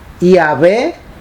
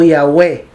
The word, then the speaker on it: Yahweh: Ok, en el hebreo moderno se pronuncia Yahvé, Yahoja o Yahweh.